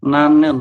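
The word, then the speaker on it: 나는: kemudian ada lagi ni karena ni di manapun Posisinya itu bunyi n maka kita Bacanya adalah gimana Mas akyar tetap n nanen seperti ini jadi kita Bacanya adalah nanen n nanen itu artinya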